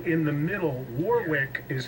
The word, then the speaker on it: Warwick: Obviously, we live over here, and she's like, "Oh, it's Warwick. It's Warwick. Drop the W."